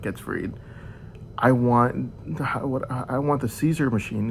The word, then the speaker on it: CZUR: And I told them straight out, I was like, look, when my brain savant gets freed, I want the Caesar machine. It's spelled CZUR.